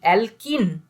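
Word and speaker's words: alkane: ENE, অ্যালকিন। আর এটা আইন, অ্যালকাইন, তিনটে নামের প্রোনাউন্সিয়েশন কর। অ্যালকেন, অ্যালকিন, অ্যালকাইন। তাহলে কি কি হলো? এন, ইন, আইন।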